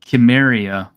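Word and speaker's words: Cimmeria: a proto-celtic and therefore as we pronounce you know celt with a hard k instead of a soft c then chimeria would have been a more proper way to pronounce it and i actually would and if you also look at the historical chemeria it's also with the hard it's also with the hard hard c because you just have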